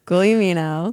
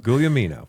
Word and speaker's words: Guglielmino: Greatest service you ever provided to the public is is pronouncing your own name. Yes. Gouamino. Gouamino.